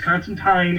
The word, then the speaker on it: Constantine: people and says that Constantine it rhymes with line and uh anytime when